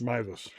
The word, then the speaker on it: Meiwes: Um, do we even figure out how to pronounce the last name? It's Mus. Mus.